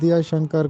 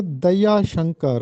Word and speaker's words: دیا شنکر: نیز دیا شنکر کا درست تلفظ بتائیے۔ تو یہ درست تلفظ ہے دیا شنکر۔ اکثر لوگ اس کو دیا شنکر پڑھتے ہیں، جبکہ درست تلفظ ہے دیا شنکر نسیم۔ دیا شنکر نسیم کی مثنوی